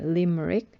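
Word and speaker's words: limerick: 나이젤이라고 하는 거고 그 다음에 네, 시의 형식인데요. 리머릭이라고 읽으면 됩니다. 리머릭.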